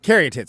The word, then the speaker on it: caryatids: right now is uh Carey tits am I say am I saying it correctly by the way you